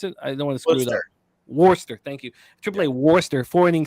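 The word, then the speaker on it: Worcester: one walk at a watch how do you pronounce it Worster thank you AAA warster forwarding six hits one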